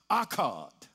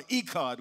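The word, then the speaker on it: echad: It's pronounced akkad. Akkad. And that akkad or ekkad word, it means one with multiple components.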